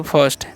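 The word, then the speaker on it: first: हैं इस क्या पढ़ेंगे इसे हम लोग पढ़े फर्स्ट देखिए यहां पर भी रूल नहीं बताए है तो आई कारण यहां पर अ होता है सभी ठीक है तो इसका ध्यान रखना तो फर्स्ट मतलब क्या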